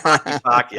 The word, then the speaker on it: Takitaki: I'm just trying to pronounce his name properly, and if I butcher this, I'm sorry. Sione Takitaki? Yes, Takitaki.